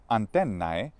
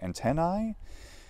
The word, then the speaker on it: antennae: antennae and 10i well this is spelled AE in Latin antennae I I sounds more like I so should we say antennae well if you want to be consistent probably we should use how that vowel Changed by the time Modern English came around which would be more like an e sound you know we say